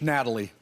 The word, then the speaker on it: Natalie: Is that how you pronounce it, Natalia? She likes the English, Natalie.